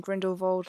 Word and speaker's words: Grindelwald: crimes of Grindelwald trailer I'm saying Grindelwald like that that's how it's actually meant to be pronounced anyways yeah it came